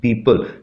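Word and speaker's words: people: एंड पीपल are getting out, एंड पीपल, PEOPPLE, पीपल, इसको ओ को भी साइलेंट रखना है आपने, ऐसे नहीं पढ़ना, पीपल नहीं पढ़ना, पीपल, ठीक है।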